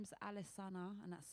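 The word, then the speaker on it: Alessana: name your band um so my name is alisana and that's spelled a l e SS a n a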